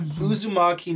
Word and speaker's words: Uzumaki: Uzumaki? Yes, we got Uzumaki Naruto from the village hidden in the leaves.